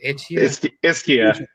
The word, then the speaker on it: Ischia: Ischia.